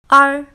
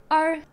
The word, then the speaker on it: er: a she means study are now are is similar to an English letter R but you pronounce it less strong are it's a bit like the English letter R but with a lighter end are it can form